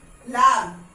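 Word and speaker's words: lamb: बी इज not pronounce, B is silent.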